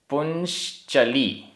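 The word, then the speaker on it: पुंश्चली: गाथा क्रमांक 21 उच्चारण पुश चली पुश चली प बिंदी है उसके बाद आधा श पुं चली पुश चली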